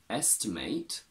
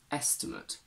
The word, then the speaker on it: estimate: in a t e if we pronounce this last syllable as ate we get a verb if we pronounce it as uh we get a noun or an adjective we get estimate and estimate to estimate means to